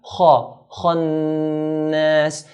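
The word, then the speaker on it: الخناس: Kha is a heavy letter in the Arabic alphabet, so we pronounce it in a heavy manner. Kha. Khannas.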